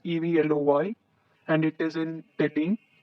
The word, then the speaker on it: Evloy: It is pronounced as Evloy, and it is in Delhi.